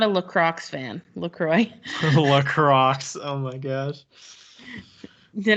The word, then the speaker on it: LaCroix: in between us and he goes um it's pronounced lacroix and we're like uh